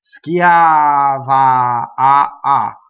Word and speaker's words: schiava: In Italian. Schiava, So make sure that those A's are equal.